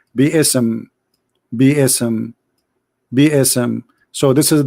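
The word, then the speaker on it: بسم: Even they agree, all the sheikhs agree that the word is not bism, it is bi-ism.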